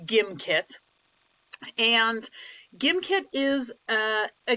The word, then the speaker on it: Gimkit: of the site himself it is pronounced gimkit not gymkit so there's no gif jiff debate on this it is pronounced gimkit and gimkit is a